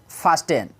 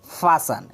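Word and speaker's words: fasten: और एक बात, इसको हम अभी इसीलिए बताए, इसको फास्टेन नहीं पढ़ा जाएगा, यहाँ पे टी साइलेंट रहता, फासन, क्या पढ़ा जाएगा, फासन, फासन, फासन।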